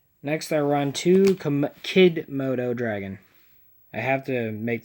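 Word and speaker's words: Kidmodo: I run to come kid moto dragon I have to make that pronunciation because I'm used to saying Komodo but it's kid moto his effect is if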